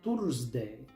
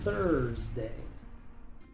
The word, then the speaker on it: Thursday: Muchos pronuncian esta palabra tsday, pero aquí la th se pronuncia con la lengua entre los dientes. La u es muda antes de la r. Así que esta palabra se pronuncia Thursday.